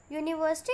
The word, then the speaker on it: university: But here we are using a with the word university because while pronouncing university, it is starting with a consonant that is U.